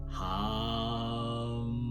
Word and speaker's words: hum: The bija mantra or seed sound is hum, pronounced hum.